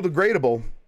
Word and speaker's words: Degradable: All right, from Kyle Degradable, which rhymes with biodegradable, is it possible that